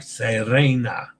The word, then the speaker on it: Serena: Roll the R. Serena. I know. E is pronounced A as in day, like in Venezia.